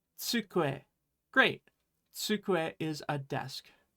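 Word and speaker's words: つくえ: It's tsukue. Great. Tsukue is a desk. Remember to make that TS sound when you're making the tsu, so tsukue, right?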